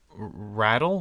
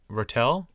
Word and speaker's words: ratel: The honey badger is known as the rattle, the ratel. Yeah. I literally saw it pronounced both ways in the International Phonetic Alphabet.